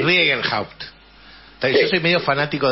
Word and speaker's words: Riegelhaupt: Yo generalmente lo digo Riegenhaupt. ¿Cómo? Así casi como leído, claro, sí. Riegenhaupt.